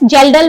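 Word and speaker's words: Kjeldahl: is gelal Method okay K is silent here K is silent it's pronounced as gelel method and Lowry method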